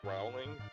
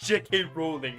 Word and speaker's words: Rowling: ] floor it's unfortunate it's unfortunately not pronounced that way it's rowling jk rowling no it's jk rowling and roll down the